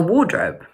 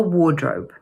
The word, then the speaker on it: wardrobe: In the UK, we call this a wardrobe, and it can be a little bit tricky to pronounce mainly because of the long /ɔː/ sound in the first syllable and the /əʊ/ in the second syllable.